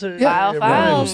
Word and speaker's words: Viall Files: something that rhymes with veal.